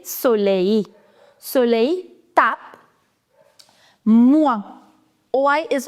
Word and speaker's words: soleil: So, ideally, you should have pronounced this last L also, but this is an exception. You say soleil.